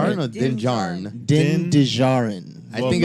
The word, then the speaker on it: Din Djarin: Din Djarin. I Well, think it's Din Djarin. Djarin. The D is Yeah, the D is silent, but I so think it's Din Djarin.